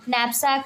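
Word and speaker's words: knapsack: जैसे इसको पढ़ेंगे तो के जो इसमें साइलेंट रहता है, नैपसैक पढ़ सकते हैं इसको, ठीक?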